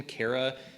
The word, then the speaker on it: Chara: Some people pronounce it chara, I pronounce it cara, same thing.